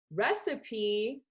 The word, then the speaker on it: recipe: Recipe does not look like how it sounds. Recipe is spelled R-E-C-I-P-E, but it sounds different.